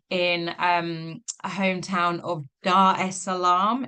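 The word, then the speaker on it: Dar es Salaam: um a hometown of Dar Salam if I have pronounced that correctly. Yeah, it's Dar Salam, but you're pretty close. Dar Salam.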